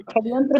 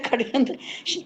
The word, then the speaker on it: षड्यंत्र: षड्यंत्र बोल रहे हैं, योगी जी हमेशा बोलते हैं खड़यंत्र, खड़यंत्र, हम्म।